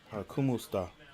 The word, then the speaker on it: Kumusta: Almost like kumo esta. Hang on. Kumusta. All right. Philippines. Kumusta. I think that's how you say it. That's how you pronounce it.